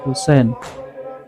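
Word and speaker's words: حسين: Nah kan teman-teman semuanya, ada tulisan ya ha, terus ya lagi ada nun, ya Husain ya, dibacanya ya Husain.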